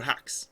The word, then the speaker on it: Haxe: Um, oh, hacks.